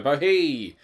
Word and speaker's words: bohea: I guess it rhymes with tea, so bohea.